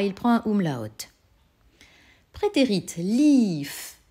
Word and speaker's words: lief: Prétérit, lief. Et tu entends, et tu dois t'appliquer à répéter un I long, c'est-à-dire que tu vas l'écrire IE. Ist gelaufen.